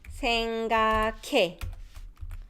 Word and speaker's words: 생각해: So the pronunciation, you had your tongue in that 그 sound. And then the harsh air follows, right? So it becomes 생각해.